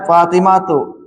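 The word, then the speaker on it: فاطمة: Nah, dibacanya Fatimatu. Fatimah ya tidak boleh tanwin. Fatimah termasuk isim yang dilarang tanwin ya. Nama perempuan. Nama perempuan itu tidak boleh ditan tanwin ketika dibaca. Fatimatu.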